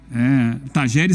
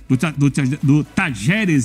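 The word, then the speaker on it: Talleres: Se você for de Córdoba, você fala Tajeres.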